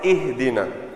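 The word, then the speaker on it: اهدنا: Ihdina. Now that downward pronunciation is for this. So there are 2 things here. Firstly, this is a kasra and this is a ha. Remember, this is ha for the letter H, right?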